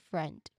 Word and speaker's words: friend: Even if it's the spelling is I E that particular vowels those vowels in the spelling of friend the IE it is pronounced as E. Okay friend.